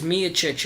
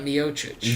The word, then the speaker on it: Miocic: Like, I just like it's Miocic and not Miocic.